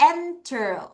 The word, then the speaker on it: enter: enter.